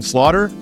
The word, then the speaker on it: Slaughter: here Slater Slaughter I say your name Slaughter all right perfect well just like it just like you would spell it uh Nation Slaughter here